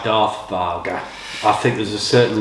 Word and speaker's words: Vaga: to dare to venture or to risk um pronounced voger in Scandinavia but we prefer Vaga across sort of the UK across Europe um